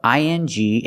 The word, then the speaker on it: ing: We also taught the American pronunciation of ANG and ANK, making the long A sound, like day and say. Ang, ank, like sang and sank.